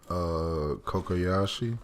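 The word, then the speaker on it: Cocoyasi: Kokoyashi. Kokoyashi Island.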